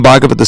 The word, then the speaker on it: Bhagavat: There's a Bhagavatam and the Mahabhagavat, the person Bhagavat, and the book Bhagavat. Bhagavat means in relationship to Bhagavan. You see the difference. Those long and short A's make all the difference.